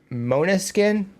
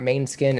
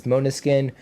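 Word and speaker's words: Måneskin: It's pronounced uh Monuskin. Hopefully I got that right. Not main skin. It's Monuskin.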